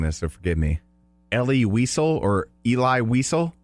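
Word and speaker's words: Elie Wiesel: I might be mispronouncing this, so forgive me. Ellie Whisel or Eli Weisel. Ellie Weisel.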